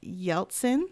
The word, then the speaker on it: Yeltsin: You also had a song, Our Generation, serving as the anthem in President Boris Yeltsin.